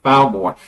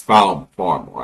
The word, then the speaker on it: Farmore: the royal family of Falmore is visiting the shared prison between Falmore and Glaumore, or of their shared prison. Is it? I was just double checking. Or Farmore. It's Farmore actually. Goblin must have mispronounced one.